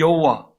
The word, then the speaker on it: 여호와: 이 여호와, 히브리어로 보면 야훼라고 발음합니다. 영어식 발음이 여호와입니다.